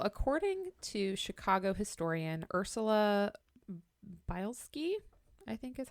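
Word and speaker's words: Bielski: yes um well according to Chicago historian Ursula bilski I think is how we say her last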